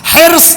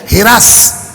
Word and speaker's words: حرص: حرص, حیر صاد. آپ کی سسرال لکھنؤ کی آپ کو پتا ہوگا. حرص یہ ہے اصل تلفظ. لکھنؤ چلے جائیے ہرس. ہم لوگوں کے دیہاتوں میں چلے جائیے اسی زبر کو زیر لگ جاتا ہے.